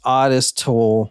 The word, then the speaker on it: Ottis Toole: when we're recording yeah I am it is pronounced odest toll from what the book that I read Plus